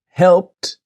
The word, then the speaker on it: helped: Now helped. Helped. Now we have E D. H E L L P E D. But let's imagine the E D is a T. So help helped.